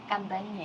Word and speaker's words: Cantanhede: Kalau tulisannya mah Cantanhede, ternyata bacanya gimana? Kantanya.